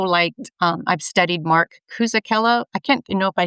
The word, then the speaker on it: Cucuzzella: But I also liked um I've studied Mark Cucuzzella. I can't know if I say his name right. Um he's an athlete, a runner, and he's also low carb. Cucuzzella There you go.